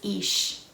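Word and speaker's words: Ix: Okay, so the pronunciation is Ish.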